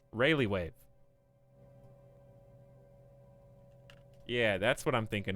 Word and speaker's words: Rayleigh wave: the relay wave how do you say this rayleigh wave rayleigh wave yeah that's what i'm thinking of um that